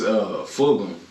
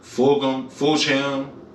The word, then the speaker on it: Fulgham: It's Fulgham. A lot of people. Yeah, a lot of people say Fulgham, Fulcham, Fuckums.